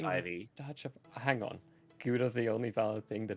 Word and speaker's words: Gouda: it's pronounced Huda? Wow. That I agree with. Howda? Dang. Howda? Gouda? It's pronounced... Gouda? You know, I'm going to keep calling it Gouda.